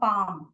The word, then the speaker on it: palm: W यहाँ पे silent है, यहाँ पे L साइलेंट है, यहाँ पे B साइलेंट है.